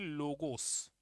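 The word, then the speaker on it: logos: उनमें से पहला शब्द है साइकी और दूसरा शब्द है लोगोस।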